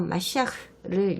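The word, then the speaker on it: משיח: 히브리어로는 마시아크입니다. 그리스어로 번역하면 크리스토스입니다. 그리스어에서 영어로 번역되면서 크라이스트, 그리스도가 된 것입니다. 메시아는 히브리어 마시아크를 영어식으로 발음한 것입니다.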